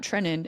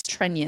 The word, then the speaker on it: Trenin: So I'm going to just say it's Trenion. It is not Trenin. It is Trenion.